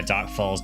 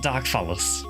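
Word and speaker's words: Dark Falz: Um, not Dark Fallus. I get why people call it that because it's like I think in Japanese it's like du it's like fasu. Um I think for me it'll always be dark falls just because I started with PSO.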